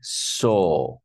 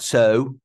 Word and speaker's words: saw: Past simple of see is saw. Huh? Saw. Not so. A lot of students say so. This is wrong. You would say saw.